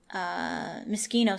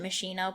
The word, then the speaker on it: Moschino: I have the tripod from Moschino stuff. I think it's pronounced Moschino. I think I usually pronounce it Machino, but that's like the cherry. It's Moschino, I'm pretty sure.